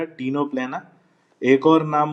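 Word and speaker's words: Ctenoplana: इसके अलावा एक और जो एग्जाम्पल दिया है टीनोप्लेना, सी साइलेंट रहेगा, टीनोप्लेना।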